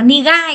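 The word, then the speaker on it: 苦い: là k nhưng mà thừa y ra ngoài thì sẽ đọc là nigai các bạn nhá Đấy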